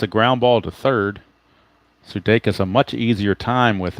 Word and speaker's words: Sudakis: some confusion a while back of how to pronounce his name, Sudakis and whatnot, but it is the actual pronunciation is Sudeikis. I verified it with YouTube and the baseball announcers, they call him Sudeikis.